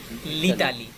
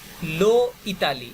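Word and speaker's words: L'Italie: যেমন যদি বলি লো ইতালি, এটা একটু কঠিন না বলেন? উচ্চারণটা কঠিন, রাইট? আবার যদি বলি লা ইতালি, এটাও কঠিন। তো সংক্ষেপে প্রোনাউন্সিয়েশনের সুবিধার্থে লিতালি বলাটা ওই কম্পারেটিভলি দুইটা থেকে সহজ, রাইট?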